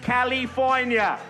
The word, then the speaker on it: California: It is pronounced California.